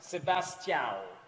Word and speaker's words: Sebastião: And Sebastião, did I pronounce that correct? Sebastião, better? is correct.